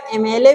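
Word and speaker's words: MLA: चलो जैसे अगर हम लिख ले एमएलए हमने लिख लिया एम एल ए होते है ना एमएलए सुने हैं अब अगर एमएलए देखते हैं तो भैया एमएलए भी देखने में कैसा है कंसोनेंट है कि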